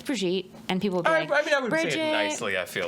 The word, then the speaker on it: Brigitte: so my name is brigitte the name is french yeah i have french